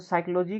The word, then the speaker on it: psychology: ठीक है, तो साइकोलॉजी का आप लोग का जो इसमें पी साइलेंट रहता है।